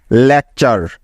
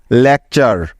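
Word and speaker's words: lecture: চারটি বর্ণ মনে রাখবে টি ইউ আর ই এই চারটি বর্ণ মিলে একটি ওয়ার্ড প্যাটার্ন তৈরি করে যার উচ্চারণ সবসময় হবে চার এর মত কি মনে থাকবে তো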